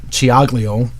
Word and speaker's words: Ciaglio: Being Italian, I can say it the right way. And she, Ed's back there laughing. Well, it's true. You know, you have to know how to say the C's and the CH's and the CC's. And they don't match up as we say it in English.